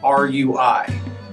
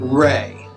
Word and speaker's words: Rui: Okay, and a name you might see fairly common is R-U-I. Right. Ray.